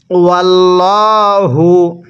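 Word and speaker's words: والله: বিমা কাসাবাত কুলুবুকুম ওয়াল্লাহু, এখানে ওয়াল্লা পড়ব না, ওয়াল্ল পড়ব, কারণ আল্লাহ শব্দের পূর্বে জবর থাকলে আল্লাহ শব্দটিকে মোটা করে পড়তে হয়। ওয়াল্লাহু গফুরুন হালিম, কিভাবে পড়ব?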